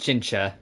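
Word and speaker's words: Qingque: Also, her name is pronounced Chincha.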